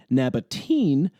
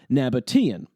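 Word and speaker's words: Nabataean: And because of this ean ending, my friend was unsure if he should pronounce it nabatene as you might expect given the usual pronunciation of the ea vowel combination or nabatian.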